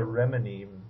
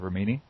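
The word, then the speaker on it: Remini: several points uh first I believe her last name is pronounced Rini yeah it's an Italian name um secondly um I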